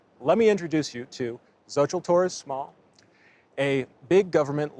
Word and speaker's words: Xochitl: Okay, yeah, the L is silent. Okay. So, how would you like to introduce yourself, Zoë? I'm Zoë Torres Small and I am from New Mexico.